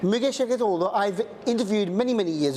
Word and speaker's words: Müge Şevketoğlu: Her name is Müge Şevketoğlu, yes? Correct. Müge Şevketoğlu, I've interviewed many, many years ago, and she's